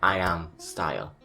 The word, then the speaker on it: IMSTYLE: it's pronounced I'm style here's how you pronounce it like I am style I'm style isn't this such a